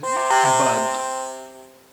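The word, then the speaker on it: بعد: बे एन दाल है इसका सही उच्चारण तो बाद है बाद ये आ की आवाज यहां पर जो है वो गटल है यानी जब हम गरारा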